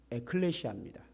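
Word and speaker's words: ἐκκλησία: 그런데 교회라는 말을 성경에서 기록할 때는 헬라어로 기록이 됐는데 발음을 하면 에클레시아입니다.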